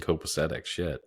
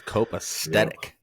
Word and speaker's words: copacetic: so there's three season copacetic I thought it was cope aesthetic that's what I've